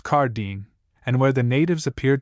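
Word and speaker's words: El Jardín: called the garden or Eljardan pronounced Kardine and where the natives appeared to be more intelligent than any he had yet seen.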